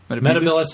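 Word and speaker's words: Metebelis: Metabilis is how it's supposed to be pronounced. He pronounced it Metabilis.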